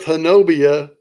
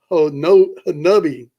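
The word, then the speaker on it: Honobia: Honubia, which is spelled Hanobia. But every time I say Hanobia, I get in trouble. And everybody tells me, no, it's Hanubia. Hanubia, like, okay. Hanubia. Yeah. I'll have forgotten about that by the next time I hear it. It's spelled Honbia. Okay. Hanubia. Hanobia. That's the way it's spelled, but it's Honubia.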